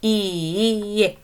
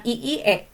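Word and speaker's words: いいえ: Tapi kalau ini karena i-nya ada 2, iye gitu. Iye ya. Bukan iie ya dibacanya. Tapi disambung saja iye.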